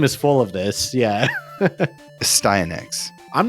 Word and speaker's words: Astyanax: I prefer a styax. I think a styanax is correct, though, cuz your character has an axe weapon.